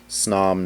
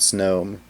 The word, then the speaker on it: Snom: how you pronounce it is snom not snow but yeah got him